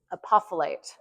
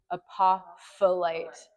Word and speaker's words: apophyllite: Apophyllite. And like this other P is kind of silent. Apophyllite.